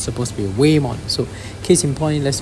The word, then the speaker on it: Whamon: Mon's profile so this is wayon I keep pronouncing it won because of the way it's spelled but actually it's supposed to be wayon so case in point let's look at atmology